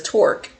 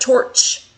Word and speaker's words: torque: So, the reason why I pronounce it as torque and not torch is because the modern in UK, United Kingdom definition of torch is a flashlight.